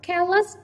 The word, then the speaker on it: careless: Careless, tính từ của hai âm tiết trọng âm rơi vào âm tiết thứ nhất, và trọng âm cũng không bao giờ rơi vào cái gì đây nhỉ?